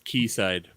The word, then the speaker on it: Quayside: ireland or england that's they they pronounce a key actually but okay hold on wait they had it yeah google says this key side key side okay [